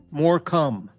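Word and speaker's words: Morecambe: More come. Right. They're face blasting in more come. Right. More come.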